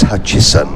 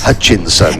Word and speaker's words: Hutchison: Yes, and of course, Phil Kinch has already reminded me that it's Hutchison, not Hutchinson.